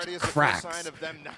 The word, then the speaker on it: QRAXS: And then there's a dude on foot whose name is QRAXS, and it's pronounced Crax.